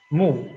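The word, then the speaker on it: 目: And next one, this is the same pronunciation, mu, but different meaning.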